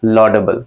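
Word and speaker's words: laudable: हमारे सामने इस लॉडेबल, प्रोनाउंसिएशन लॉडेबल क्लियर हो गया मेरे भाई।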